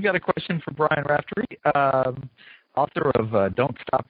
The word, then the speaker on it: Raftery: a question for Brian Rapter uh am I saying that right right yeah it's is it's a sort of a strange Irish variant so I never I